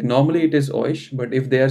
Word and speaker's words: euch: But do they say like oik or oish?